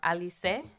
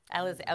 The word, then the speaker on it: Alize: Alice or Alize? Alize. Okay, I thought so.